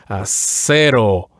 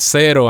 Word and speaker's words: cero: Yes, in Spanish it's very typical for us to just every vowel it only has one sound. Like for example, cero. I would say it should be said like that, cero, as opposed to zero.